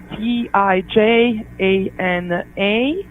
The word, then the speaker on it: Tijana: Yeah, it's a little bit it's It's a Serbian name, so it has all these lots of consonants and it's kind of silent letters. It's Tijana, and then last name.